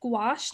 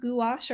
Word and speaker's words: gouache: Here's the gouache, pronounced gouache, not gouache or gauche or whatever. I believe it is gouache.